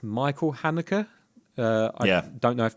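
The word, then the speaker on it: Haneke: I mean, if you want to have his name in German, it's Mel Hanik.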